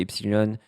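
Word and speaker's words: Epsiloon: Donc, c'est Epsilon. Ça se prononce Epsilon, mais il y a 2 O.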